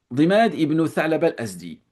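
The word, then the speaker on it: ضماد بن ثعلبة الأزدي: Mais Abu Dimad, Dimad ibn Tha'laba al-Azdi, quel était son travail en réalité?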